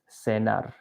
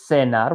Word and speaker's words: cenar: In every country except one, they're pronounced as the letter S. So this is not almorzar. This is almorzar. And this is cenar with like an S sound.